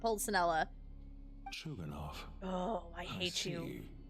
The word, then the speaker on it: Pulcinella: I wonder how Pulcinella will respond this time. Pulcinella, I said it right when I said his name the first time. I definitely said that, not Pulcinella.